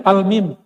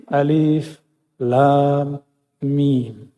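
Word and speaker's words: الم: Kalau kita pakai ilmu tajwid kan bacanya almim. Benar enggak? Alif lam mim. Bacanya apa? Almim. Tapi enggak boleh dibaca begitu. Dibacanya mesti alif lam mim.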